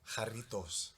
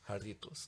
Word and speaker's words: Jarritos: Okay, is jarrito or jarrito? Jarritos. Jarritos. Because there's 2 R's. Doble R.